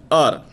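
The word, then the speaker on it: hour: thing more clear and our H oh you are here the word our in the world our H remains silent we pronounce it as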